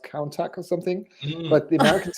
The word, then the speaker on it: Countach: So it's obviously play on words on MC Hammer piece, but it's basically Countach this for the Lamborghini. Yeah, and it's so funny because researching it, like in Europe, many said Countach, because apparently it's a Spanish word.